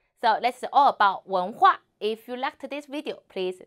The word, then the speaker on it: 文化: 我们一起读文化文化 So, 文 H is the final 无 N 文 second tone 文文 and 呵